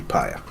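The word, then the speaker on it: père: It would be more like, your Paya is here. So your father is here.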